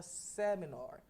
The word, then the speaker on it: seminar: The stress falls on the first syllable and say seminar.